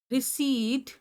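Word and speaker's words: receipt: रिसीव, रिसीव, रिसीट, conceive, conceit. Read किया। एक बार दोबारा से अपने आप को बोलते हुए सुनो। रिसीव, रिसीव, रिसीव, रिसीट। इसमें ना पी साइलेंट है।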